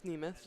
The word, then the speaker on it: Nemeth: I'm saying his name wrong. All right. It's Nemeth. Nemeth.